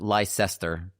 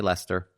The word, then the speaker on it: Leicester: want to pronounce it Leicester, but you just get rid of some vowels and consonants and just say Leicester.